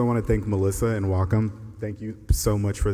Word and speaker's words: Wacom: Thank you for pronouncing Wacom correctly. Fun trivia fact, it's pronounced Wacom.